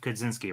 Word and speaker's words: Kosinski: out though to put in, how do you pronounce his name? Joseph Kosinski, right?